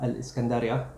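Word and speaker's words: الإسكندرية: was there too So, Alexandria or in their pronunciation Al - Iskendriyya It was opened by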